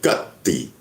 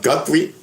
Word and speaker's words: Guthrie: G U T H R I E is spelled Guthrie. Easy one to mix up. So, na Alexa, who's Nancy Guty? Guthrie. Nancy Guthrie is the 84year-old